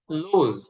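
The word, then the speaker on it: lose: Stand দাঁড়ানো, seat বসা, পড়া, স্টপ থামা, উইন জয়লাভ করা, লুজ হারা, লুজ এখানে যেই এসটা আসছে এটা আমাদের জয়ের মতন হবে, মানে বর্গীয় জ না, একটু অন্তুস্থ জ টাইপের হবে, লুজ হারা মানে হালকা জ, লুজ হারা।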